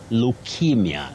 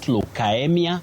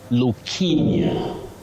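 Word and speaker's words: leukaemia: Betty, you say leukemia, not leukemia, not leukemia. You say leukemia, yes. Sorry, Willice, if maybe you could just repeat that again. Leukemia, not leukemia.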